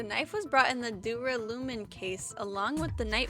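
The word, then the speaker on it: duralumin: in case as well dura lumen i pronounced it very wrong i said assume if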